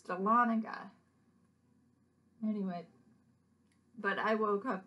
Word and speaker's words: Dahlonega: at north georgia college and i call it dalenega but it's dahlonega just there's a lot of indian cities around